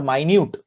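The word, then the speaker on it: minute: तो मिनट, तो मिनट पहले टाइम वाला मिनट देखेंगे कि मिनट इसका प्रोनाउंसिएशन भी थोड़ा सा अलग होता है, इसलिए मैंने ये वाला एग्जांपल फिर से लिया है, मिनट और माइन्यूट।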